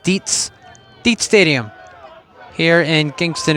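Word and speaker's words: Dietz: Not Diets. You know it's spelled D I E Ts TZ, excuse me. Sounds like Diets, but it's pronounced Deetsz.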